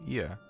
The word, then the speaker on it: Ea: Ia, I believe, was the pronunciation used when referring to our people.